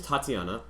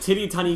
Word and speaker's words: Tatiana: my uh psychologist's name her name is tatiana and he just struggles every single time it's like titty tiny that's basically does he